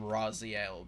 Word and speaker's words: Raziel: and it's and yes, I am calling him Raziel because that's the corre correct pronunciation.